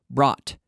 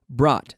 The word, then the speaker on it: brought: pronounced like an OT brought okay brought so don't try to pronounce all those letters and think of it as the same we also have like